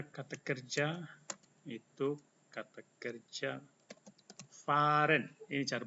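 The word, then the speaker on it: fahren: kerja itu kata kerja Faren ini cara bacanya Faren ada Ha Di Sini yang yang kemudian di depannya ada huruf hidup maka h-nya tidak dibaca tapi dibaca panjang ya Faren ini Faren artinya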